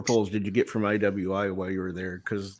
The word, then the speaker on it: IWI: is just a bonus you could pronounce this E Lee but I believe it's iwi Israel weapon Industries could be Evie though I kind of